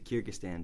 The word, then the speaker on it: Kyrgyzstan: Yeah, Kyrgyzstan.